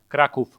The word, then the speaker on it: Kraków: How do you say Krakow? Kraków. Krakow? Yep. With an F? Yep. Okay, so we've been saying it wrong the whole time.